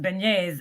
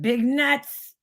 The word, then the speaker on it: beignets: by the way Laura beignet is our pronounced Beignets not big nuts big nuts I don't